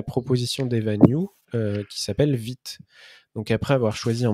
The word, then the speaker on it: Vite: vu de toc mais je serais pas étonné que la plupart le prononce weit non jeu comme l'insight